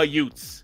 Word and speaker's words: Utes: the Utah youths only it would be pronounced like Uncle Vinnie my cousin Vinnie and be the Utah Utes the Utah Utes so